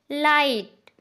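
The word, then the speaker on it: light: जब किसी वर्ड के लास्ट में GHT आ रहा है तो लास्ट में आए GHT में G साइलेंट हो जाता है, HT पढ़ा जाता है।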